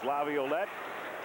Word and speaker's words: Laviolette: Scrapping for it in the corner along with Peter Laviolette. He has re-added a syllable. It's 4 syllables. Laviolette.